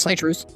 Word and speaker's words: Citrus: Pronounced Citrus.